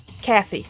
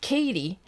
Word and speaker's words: Kathy: Well, thank you, Kathy. There we. Okay. Why did I forget? For some reason, my brain is screaming at me to pronounce it Katie, but I'm like, it has an H, so.